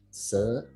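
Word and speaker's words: 四: Ingat i itu di ujung dibaca e. Jadi kayak se dan itu nadanya turun ke bawah jadi se.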